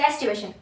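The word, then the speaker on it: aestivation: Hibernation एस्टिवेशन। अब हबनेशन एस्टिवेशन को हम कैसे समझ सकते हैं? एस्टिवेशन। एसी एस्टिवेशन में एसी वर्ड आ रहा है। एस टी मतलब स्पेलिंग में नहीं बट प्रोनाउंसिएशन में एस्टिवेशन तो गर्मी एसी मतलब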